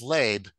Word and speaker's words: Leib: And the son's name is Leib. It's like label. I guess you can pronounce it Leib. It's an accent difference.